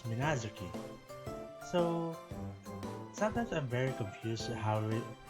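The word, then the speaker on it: Minaduki: It says that the the written words is the written word says Minazoki, but when they pronounce it, it's Minazuki.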